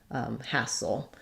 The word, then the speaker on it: hassle: So I would write that like ha, soul, or you can think about it like having a very small schwa there, soul, hassle, versus hustle.